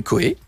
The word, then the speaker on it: Cauet: Vous envoyez Coé. Oui. Mettez Coé, vous écrivez Coé. Comme si vous écriviez mon bébé. Bah, c'est Coé. Ça s'écrit comment? Ça s'écrit comment? C-A-U-E-T. Ah, d'accord. Voilà. C'est pas K-O-E.